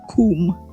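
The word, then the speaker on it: cum: Ah, kum. Exactly. Our how is uh is literally pronounced kum.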